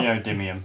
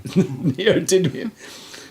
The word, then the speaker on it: neodymium: How do you pronounce it, Carl? Neodymium. Neodymium.